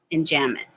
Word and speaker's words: enjambment: meter rhyme refrain and enjam mint the b is silent enjambment so when you click